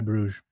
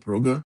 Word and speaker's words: Brugge: pronounce Club Brugge because some people pronounce it Brugge, and I think that might be the right way. But I always still just say Bruges.